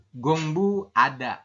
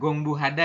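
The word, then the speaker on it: 공부하다: Kalau yang ini adalah gongbu ada, seperti itu. Gongbu ada seperti itu. Bukan gongbu hada ya. Kurang tepat ya kalau gongbu hada.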